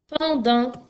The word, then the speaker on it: pendant: Pendant, P-E-N-D-A-N-T. Alors, pendant, c'est comme le mot enfant. Tu as deux fois le son en. Le premier s'écrit E-N et le deuxième s'écrit A-N.